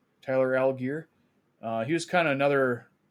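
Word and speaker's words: Tyler Allgeier: Tyler Algier.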